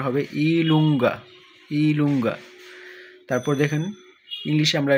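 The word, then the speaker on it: i lunga: প্রথমেই দেখুন, এটা আমরা ইংরেজিতে বলি জে, কিন্তু ইতালিয়ান ভাষায় এটাকে উচ্চারণ হবে ইলুঙ্গা, ইলুঙ্গা।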